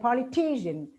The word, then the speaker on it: politician: So instead of pronouncing it, it's examination, stress on ne, manner on ma, and because on ko, and politician on t.